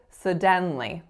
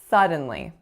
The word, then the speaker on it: suddenly: that I said was sedan Li sedan Li so we should not be stressing the den we should be stressing the first syllable sir suddenly suddenly so that section should have